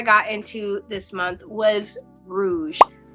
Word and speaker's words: Rouge: into this month was Rouge I say it like that every single time I announce it Rouge cuz I feel like that's how you have to how you have to say the title it is the newest